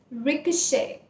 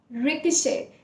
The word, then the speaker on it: ricochet: it is pronounced as ricochet ricochet so the t is silent at the end the second lesson on